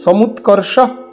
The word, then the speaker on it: সমুৎকর্ষ: সমুৎকর্ষ একটি শব্দ, এবং দেখতে হবে সমুৎকর্ষ নিঃশ্রেয়সস্য, এই পুরোটা একটি সমাসবদ্ধ পদ। কতগুলো শব্দ নিয়ে এই পদটি? সমুৎকর্ষ একটি পদ, সমুৎকর্ষ।